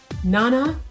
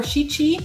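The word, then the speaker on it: 七: Nana or shichi are both ways of pronouncing the number 7.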